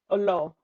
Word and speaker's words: Oloo: ask let's go um I joined with Rebecca Olo sorry how do I pronounce Olo Olo silent okay silent okay gotcha um using but